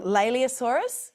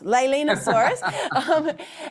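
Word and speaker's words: Leaellynasaura: about your um I'm going to get the name wrong. Leosaurus. Did I get that right? Leilenosaurus. Oh, close. Leilenosaurus.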